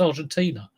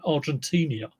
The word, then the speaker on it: Argentina: I was I was watching the football yesterday and no it was the news and two two um news readers couldn't pronounce Argentina. They were saying Argentinia.